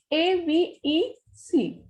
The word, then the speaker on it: avec: First example is A-V-E-C. This is ending with C, so it will be pronounced completely.